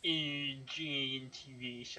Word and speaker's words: Ergentiviss: Call it urgent if you Urgentivish. I'm like, well, how would you spell that?